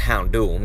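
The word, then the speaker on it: Houndoom: say hound door but i believe it's actually pronounced hound hour and of course no uh getting around hound doom that's how that one's said but yes hound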